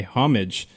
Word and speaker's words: homage: On Wednesday, Google's search page featured a homage to Shirley Temple Black. Homage. Homage. Homage. Homage. You don't pronounce the H. It's homage.